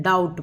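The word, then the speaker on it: doubt: पर फिर भी देख लेते हैं साइकोलॉजी, साइकोलॉजी में पी साइलेंट है, डाउट में बी साइलेंट है, ठीक है।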